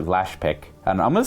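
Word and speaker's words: Laspykh: I do now it's it's spelled l-a-s-p-y-k-h so it could be Pike last Pike or lash pick and I'm gonna say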